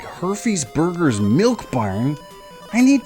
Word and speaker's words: Herfy's: drove past a place called her fees Burgers that's spelled h-e-r-f-y apostrophe s herfes herfy's burgers and uh on the it was like